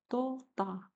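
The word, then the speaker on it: तोता: Now it will be pronounced like tota, which means parrot.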